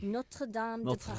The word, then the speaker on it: Notre Dame de Paris: How do you pronounce Notre Dame de Paris? Notre Dame de Paris.